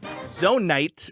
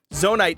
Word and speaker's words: zonite: and you're all out Zone Knight is best used for upgrading your battery and re and you're messing me up with all this bad pronunciation of zonite zonite is the best use